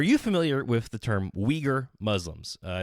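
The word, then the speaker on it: Uyghur: familiar with the term weager Muslims uh it's spelled with a u u it's like you u y g Hur it's weager weager Muslims weager Muslims are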